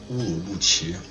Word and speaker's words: Urumqi: It's actually pronounced Urumqi.